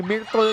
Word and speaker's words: Myrtle: Tinanong ko yan, si Escanlar, kung paano yung pronounce yun. Ganun talaga eh, Myrtle daw talaga. That's how she prefers it.